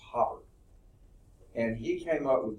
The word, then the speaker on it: Haber: It's spelled Haber like it would be Haber, but it's pronounced Haber.